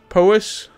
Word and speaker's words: Powys: This is pronounced Powys.